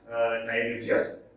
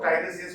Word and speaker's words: Tiresias: Now, Tiresias, I think it is pronounced as Tiresias, another poem. Now, there are 26 poems. You know who Tiresias was?